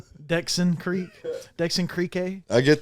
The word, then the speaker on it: Dxn Creq: Are you Dan Creq? Nah. Right. Dexon Creek.